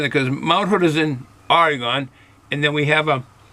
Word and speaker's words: Oregon: But I'm assuming These crystal hops came from Oregon, from saying it correctly, Oregon.